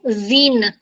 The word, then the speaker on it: usine: Again, wherever there's single U, it will be pronounced as U. Usine.